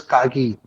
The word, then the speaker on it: Kagi: तो फिर then I realise कि भी there is a option to push through an alternative browser called as Kagi, Kagi. It is pronounced as Kagi.